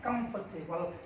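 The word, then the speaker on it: comfortable: जब भी आपको ना आर के बाद में व्यंजन वर्ड दिखाई दे, उसकी साउंड आए ना, आर को साइलेंट रखती है, इसको पढ़ेंगे कंफर्टेबल, ना कि कंफर्टेबल। आर आपका साइलेंट हो जाएगा, आर आपका साइलेंट हो जाएगा, कंफर्टेबल नहीं, कंफर्टेबल।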